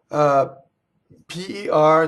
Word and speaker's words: per: Per does not rhyme with the fruit pear or pear or socks. It's per me.